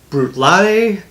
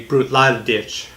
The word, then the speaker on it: Bruichladdich: pronounce the different ways I've heard people just say brute Lodi and then I've also heard people say brute lot of ditch and so I don't